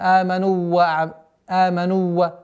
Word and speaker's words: آمنوا: Здесь обратите внимание, так как слово аману заканчивается на удлинительный звук даммы, а следующая буква начинается на вау, чтобы не появилась ассимиляция. Аману ва. Нет. Аману ва. Нужно разделять в временном промежутке.